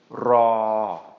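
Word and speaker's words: รอ: And when we put these two together, it's going to become ra, ra, ra.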